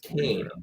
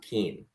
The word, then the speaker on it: Kane: And remember, it's pronounced Kane, not Keen.